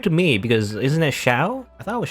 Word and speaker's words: Xiao: me because isn't that shao i thought it was shao right x is like in you know in um in chinese anyway or at least in mandarin you know like shell